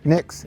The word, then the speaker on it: Nix: Nix, N-I-X. N-I-X. Yeah. Nix. It's simple. Okay. Oh, I can spell it.